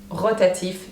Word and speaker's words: rotative: is a r so you can see that it literally has been taken from englishor but then you pronounce it in French rotative that means that it rotates